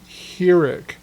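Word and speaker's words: חיריק: Then we have a short I sound, which is hireq. Now the dot has moved from the top of the lamed to the bottom, and it's the I, like in sitter.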